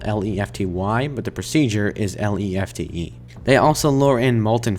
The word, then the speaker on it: Lefty: By the way, yes, his name is spelled Lefty, but the procedure is Lefte.